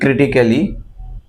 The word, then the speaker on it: critically: CRITICALLY. এটার উচ্চারণ কি হবে? Again, CRITICALLY. Right? নিশ্চয়ই বলবেন যে critically. No, it's not critically, it's critically.